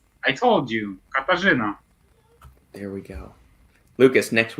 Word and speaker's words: Katarzyna: Katarzyna, I need help pronouncing this name. I told you, Katarzyna.